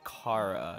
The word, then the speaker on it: Chara: comes to car is how to pronounce their name I don't really think it matters but I see a lot of people arguing about it and I I am a firm believer in the Cara Supremacy out of the KFC